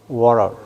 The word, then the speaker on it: water: 그 물은 워터 하는 건 유럽식 발음이고 T 발음하는 것은 미국에서는 무음이. 그럼 뭐래요? water. 이렇게 발음한다.